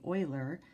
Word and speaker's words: Euler: or I should say Euler created or identified his name is spelled e UL e r and this is U boilers number it's pronounced oil uh-huh okay and that